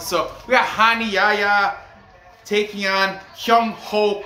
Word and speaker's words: Rani: gonna call him honey he's brazilian and they pronounce their r's like huh like a h sound so we got hani yaya taking on hyung